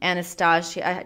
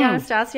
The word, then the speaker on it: Anastasia: I got that Anastasia. Did you say Anastasia or Anastasia? Whatever the fuck. Anastasia is how I'm gonna say it because that's how it's spelled.